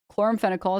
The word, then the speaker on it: chloramphenicol: The antibiotic in question is, I believe, chloramphenicol is how you pronounce it.